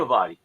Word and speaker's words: Limavady: Limavady.